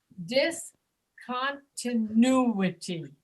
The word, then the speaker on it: discontinuity: Yes, it's from the word discontinued, but it's pronounced discontinuity. So Continuity. it's the U sound that's accented.